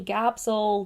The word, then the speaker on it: Gabs: Stanny calls me Gabsel, Gabelle, Gabby, Gab. My family will call me Gabs, which I hate because it rhymes with stabs.